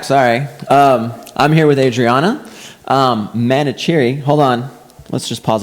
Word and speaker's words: Manoucheri: How do you say your name? It's Manoucheri. Manoucheri.